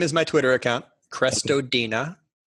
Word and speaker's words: Crestodina: I think my last name is my Twitter account, Crestodina. Spelled like it sounds.